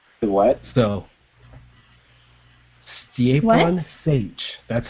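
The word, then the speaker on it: Šejić: between him and Ron Mars, and apparently it's Sage. What? So, Stjepan Sage. That's how you pronounce it.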